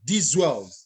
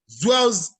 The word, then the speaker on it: Zwells: Thank you very much, D Zwells. Is that the pronunciation? D Zwells. There's no D. You know that I went to evening school. My apologies. Zwells Educational Foundation.